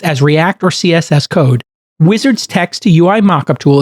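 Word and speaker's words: Uizard: do that so let me tell you about wizard it's spelled UI aard D it's an AI powered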